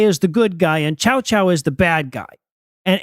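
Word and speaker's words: Cao Cao: was a general named chowchow you'll you'll occasionally hear it pronounced Cowa or SAA but I'm going to call it chowchow because that's the cutest of the translations that I found um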